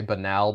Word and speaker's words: banal: I always love the I forget, there was near one time I heard a friend say banal but pronounce it banal, and look, that's a tough one.